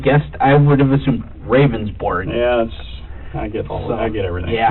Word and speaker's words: Ravnsborg: Ravnsborg. Okay. But it's pronounced rounds, like a round circle. Okay. Berg, like an iceberg. It's Danish.